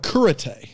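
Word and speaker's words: Cúrate: It's called Kurate. Okay. C-U-R. See, I went there and I was expecting to be taught karate, but it didn't quite work out. It's spelled curate, C-U-R-A-T-E, but it's pronounced Kurate.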